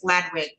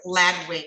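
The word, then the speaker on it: Ladewig: name, Miss Underwood, it's Ladwig. I'm sorry. Pronounce the Her name is spelled L A D E W I G, but it's Ladwig is how she pronounces it.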